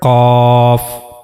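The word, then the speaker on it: ق: roof of the mouth in the area of soft pallet. This is the origin of letter cough. Cough cough.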